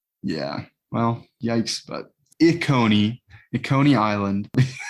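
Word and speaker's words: Kony: think it's like the leader the regime dictator coney remember i was talking about jose no no how do you spell that k-o-n-y he was the ugandan militant who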